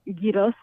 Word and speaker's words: gyros: We pronounce as you write, as it gyros. So yeah, Gyro? I think Greeks are also gyros. Do you roll the R there? Gyros. Gross. Yeah. Like that. You say it's gross. Yeah. Gyros.